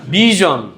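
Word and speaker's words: vision: conclusion ভার্জন ডিভিশন ভিশন অনেকে ভীষণ টিভি বলে না ভীষণ না তো এটাকে কি বলতে হবে ভিশন ওরা ভীষণ বলে না ওটা ইংলিশের ভাষা ভুল বলে আবার বানানো ঠিক ওই রকম কিন্তু ওটা ভুল ওটা হবে ভিশন ওকে তারপর টেলিভিশন না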